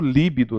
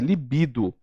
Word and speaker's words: libido: As pessoas pronunciam líbido, não é líbido, ela é uma paroxítona, é libido.